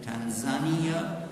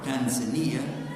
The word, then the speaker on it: Tanzania: into Africa we visited Tanzania or Tanzania depending on how you pronounce it we visited Darst